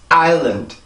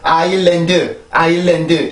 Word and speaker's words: island: 그러면 island 한 번 더 island 자, 이 단어는 그래서 그렇게 발음을 해요. 절대 아일랜드 이게 아닙니다. island 요렇게 발음을 해주셔야 돼요.